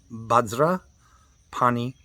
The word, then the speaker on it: Vajrapani: It looks like Om Vajrapani Hum Fat, P-H-A-T, but that is pronounced Pe, okay? Om Bajra, and in the Tibetan tongue, it's Bajra, not Vajra. Om Bajra Pani Hum Pe.